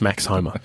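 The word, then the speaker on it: Max Homa: thing as a bank of Hope now it's pronounced Max Homer it's nice um and it's Ms thank you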